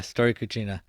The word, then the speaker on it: Storia Cucina: pronunciation correct? Yeah. Storia Cucina.